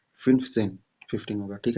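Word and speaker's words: fünfzehn: और 15 का भी फिन्फ जेन, फिन्फ जेन 15 होगा, ठीक है।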